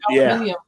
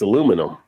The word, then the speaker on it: aluminium: So aluminium. Yeah. But see, in America, it's aluminum. Aluminum. And people from other countries are like, you're not pronouncing that right.